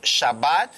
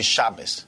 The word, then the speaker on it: Shabbat: so just one tip the sound of T is changed in ashkanazi type of Hebrew ashkanazi type of a Hebrew which is used in Europe I give you example instead of Shabbat if we don't have the it will be shabas okay probably you heard